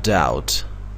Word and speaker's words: doubt: I have doubt. Doubt حرف بی تلفظ نمیشه.